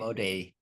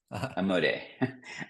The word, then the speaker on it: Amodei: Amodei. Amodei.